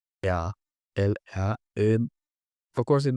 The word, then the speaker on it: ea: few minutes ago because in some words, "e" is pronounced like "yeah." I know it might sound strange, but if you speak to someone like this, eu mănânc, el, ea, el, ea, of course,